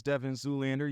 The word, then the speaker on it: Devyn Zoolander: to let you all know my name is Devin Zoolander you can find me on all social media platforms as Devin Zoolander that's spelled d-e-v-y-n-z-o-o-l-a-n-d-e-r they call me Devin Zoolander what's